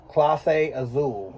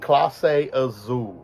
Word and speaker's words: Clase Azul: that's Clase Azul. Clase Azul. Tequila Reposada. Oh. Clase Azul.